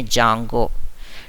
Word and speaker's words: Django: Commands of एन ए जंगो। डी इज अ silent over here.